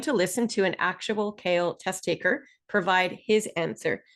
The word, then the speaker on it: CAEL: So, first of all, we call this test the kale and we spell it exactly this way because each letter in the word kale stands for another word.